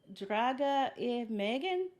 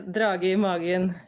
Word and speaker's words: drage i magen: is, I'm going to mispronounce this. It's like Draga e Megan. Yes, drage i magen.